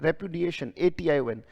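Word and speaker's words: repudiation: फिर से बोलेंगे शाबाश उच्चारण है repuation या दा पढ़ सकते हैं रिपुडिएशन से पढ़ा जाता है रिपुडिएशन उसमें ए और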